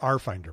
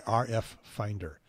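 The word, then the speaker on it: RFinder: Well, everybody said, a lot of people say RF Finder, but there's no two F's.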